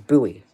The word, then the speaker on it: Bowie: It's Buoie Maryland, not Bowie, Maryland. I always thought it was Bowie, but it's not. It's buoy.